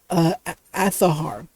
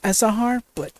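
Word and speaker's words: Azahar: I'm using another 3DS emulator called Athahar. Yeah, I know there's a Z in it, but that's how it's pronounced. I know some people will pronounce it as Asahar, but I've found out the proper pronunciation for it.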